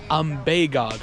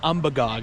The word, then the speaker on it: Umbagog: And apparently that's how you pronounce it. It's Ambbeog, not Ambog as I've been saying interchangeably.